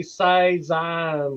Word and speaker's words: saison: No, you can't say it properly. It's got to be saison.